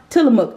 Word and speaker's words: Tillamook: we all know Tillamook it is pronounced Tillamook I Googled it Google some things you